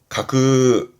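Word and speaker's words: 架空: 가공 발음은 그래서 가그 가그 명심하시고요. 가그입니다.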